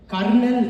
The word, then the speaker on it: colonel: இங்கிலீஷ்ல COLONEL அப்படின்னு ஒரு வார்த்தை எழுதுவாங்க. இந்த வார்த்தையை எப்படி உச்சரிப்பாங்கன்னு நினைக்கிறீங்க? கர்னல் அப்படின்னு உச்சரிப்பாங்க. இந்த வார்த்தையில 6 எழுத்தே இல்லை.